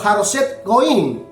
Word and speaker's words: Haroset Goim: el cual habitaba en Haroset Goim, o Haroset Goim, mejor pronunciado.